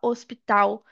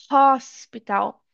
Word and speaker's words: hospital: Então, por exemplo, em inglês a gente não fala hospital, a gente fala hospital. Hospital. Então, o hazinho do hospital em inglês é a gente fala ele, ele não é mudo, tá?